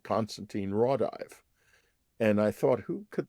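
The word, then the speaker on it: Konstantin Raudive: It was not Constantine Rawdive. It was Constantine Rawdive, whose work I knew well.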